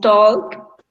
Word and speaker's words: talk: stopped to talk to Barbara. I stop to talk. Remember that the pronunciation is without the L.